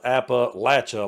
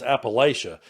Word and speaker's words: Appalachia: in Appalachia, and yeah, it's spelled Appalachia, like throwing apple at you. That's how you say it around here. The further west you get, or the further southwest you get, suddenly it becomes Appalachia. But up here where we're at, it's Appalachia, and it always will be.